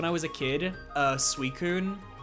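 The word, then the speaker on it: Suicune: Uh Suicun. I had no idea how to pronounce that name as like an 8-year-old. So I was like, um, uh, suicine, which is just awful, awful on so many levels.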